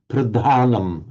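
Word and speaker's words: pradhānam: sometimes the English speakers, and we now know Burmese speakers, will kind of overemphasize the h because it's not natural to them, so they overemphasize it.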